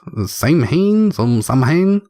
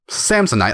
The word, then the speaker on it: Samhain: Samhain? Samsonite.